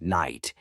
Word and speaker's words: knight: can be tricky too some words like knife and Knight have letters you don't say which can confuse use